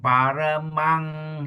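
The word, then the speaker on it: paramaṃ: gamim Patemang, again here, M is Nang, Pat, Gim, Nibbanagaming paramang hitaya. Nibbanagamim paramam hitaya Paramang, mang, M-A-N-G. Pronounce it as M-A-N-G, Paramang, Paramang hitaya.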